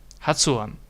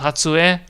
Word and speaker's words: 発音: 発音 Hatsuon. Not Hatsue. Hatsuon.